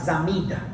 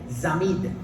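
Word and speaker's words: צמיד: Porque había brazaletes, se le llama brazaletes aquí en tu versión bíblica, pero en hebreo se llama zamid, T-Z-A-M-I-Y-D, zamid.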